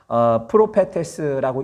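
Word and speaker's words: προφήτης: 이 예언이라고 하는 말은요, 원래 성경 원어에 찾아보게 되면 프로페테스라고 읽습니다.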